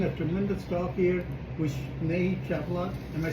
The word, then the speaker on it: Snehee Chaplot: We are having a tremendous talk here with Snehee Chaplot.